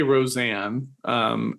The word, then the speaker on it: Rozan: And then my bow of it, and then I'll open it up to you guys, is that I had on S.J. Roseanne. It's spelled Rozan.